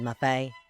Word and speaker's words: Muffet: And yes, I said Muffet. They just changed her name that first time around to rhyme with Tuffet.